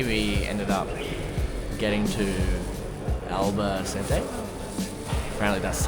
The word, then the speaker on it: Albacete: So, yesterday we ended up getting to Alba Cente. Apparently, that's how you actually pronounce the town.